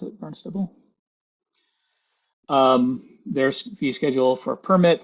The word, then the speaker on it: Barnstable: That's how you pronounce it, Barnstable.